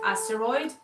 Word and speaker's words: Asteroid: for watching Eric the the song is pronounced asteroid is just that the each heart is stylized with the brackets stupid titles people let